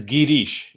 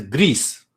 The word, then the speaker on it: Girish: means you know Sneha if you pronounce my name differently that is also snow ha one is Girish is the right name cool you know some people here also learn they they address me as Greece I said name let